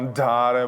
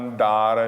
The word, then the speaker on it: andare: “Piace, è bellob-bello” Then “Vo’andare” – your “d” buzzes, not “Andhare”, but “andare”, a softer, Italian “d”, Porta Rossa – there can be more “s”.